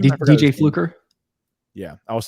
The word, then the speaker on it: Fluker: DJ Fluker. Yeah, I was saying his name. I was calling him DJ Flucker, and everyone's like, "It's not Flucker, it's Fluker."